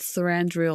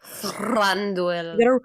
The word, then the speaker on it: Thranduil: Thranduil. You gotta roll your R's.